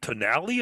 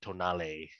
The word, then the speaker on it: Tonale: think is pronounced everyone everyone in north america has been called the toenail or tonal but it's probably like tonale yeah because i'm just thinking you know it's italian it should be you know it's fantastic you gotta pronounce every syllable you gotta get some